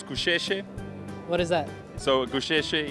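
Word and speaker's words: Gusheshe: So the correct pronunciation is Kusheshe.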